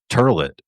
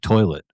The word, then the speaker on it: toilet: last two people that pronounce it turlet instead of toilet, you know.